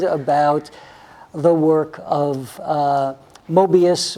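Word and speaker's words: Möbius: the work of uh mobius or i guess he was german so i think his probably was actually pronounced murbius he was a uh i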